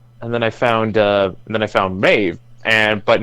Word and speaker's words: Maeve: me on the name to say that it's Maeve yeah she said yeah it's not pronouncing my if it's pronounced Maeve and it's